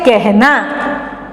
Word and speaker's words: कहना: पर क्या होता है, ये अ ए की तरह उच्चारण होता है। इसको आप क्या पढ़ेंगे, कहना।